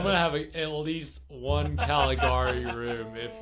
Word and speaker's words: Caligari: Caligari, I think, is how it's supposed to be pronounced.